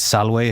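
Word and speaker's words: salve: Kenton and and then instead of V it's w so like to say hello in Latin it's Salway if you've got one person if you got multiple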